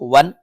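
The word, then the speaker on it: one: N give me वन इसको देखो वन वा का साउंड है वा तो हमारा एक कंसोनेंट कहलाता है तो राइट आंसर हमारा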